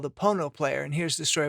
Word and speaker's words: Pono: music player called the Pono player to present songs as they first sound during studio recording session sessions the name Pono which rhymes with phono is actually a Hawaiian